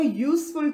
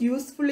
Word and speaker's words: useful: children we say a useful thing because useful is pronounced with the consonant sound y here the word useful